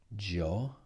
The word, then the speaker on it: giochi: will sound tu giochi, because C and I in Italian is C. You can go back to the pronunciation section to see that. So in order to keep the hard sound of the C, k, they had an H in between.